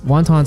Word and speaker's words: 云吞: In Cantonese, wontons are pronounced wonton, which roughly translates to swallowing a cloud.